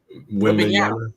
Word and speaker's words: Wembanyama: How you pronounce it again? Say it one more time for me. Wembanyama.